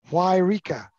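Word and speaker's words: Yreka: us a pronunciation guide for y-r-e-k-a and the pronunciation is why rika yeah yeah there we go that's correct i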